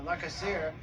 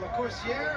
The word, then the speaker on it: LaCoursiere: you heard that jimmy lennon jr i introduced the coursier as la casire there is some question as to the pronunciation of his name and uh he has actually said different things from different people so we're going la corsiere and sylvia it's going